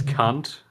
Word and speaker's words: Kant: pronounce him is cunt.